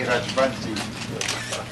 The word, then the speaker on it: Rajbansi: Call me Rajbansi. Mr. Mandela pronounces my name better than any Indian.